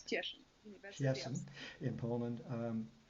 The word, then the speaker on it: Cieszyn: I can't pronounce it. Cieszyn, yes, it's Cieszyn University of.